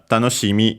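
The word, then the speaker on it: 楽しみ: Uh, tanosimi is an exception because it's actually centered on the sea.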